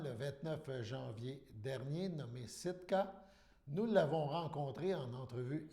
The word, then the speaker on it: Sitka: Donc, tu as fait un nouvel album qui se nomme Sitka, si je le prononce bien.